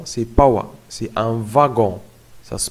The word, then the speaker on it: wagon: watts ici attention c'est pas moi c'est un wagon ça se prononce est une exception wagons à la va